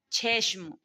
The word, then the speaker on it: چشم: چے کا تلفظ کیا ہے؟ چھ، یعنی موٹا اس کو ادا کیا جائے گا. چھشم.